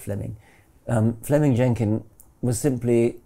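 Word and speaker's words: Fleeming: was simply it's written in flaming but it's pronounced fleming um fleming jenkin was simply saying manifest facts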